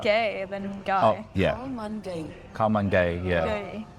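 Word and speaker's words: ข้าวมันไก่: Let's see how to actually pronounce it. Actually, Khao Man Gai. Khao Man Gai. It sounds more Similar. like gay than Oh, guy. yeah. Khao Man Gai.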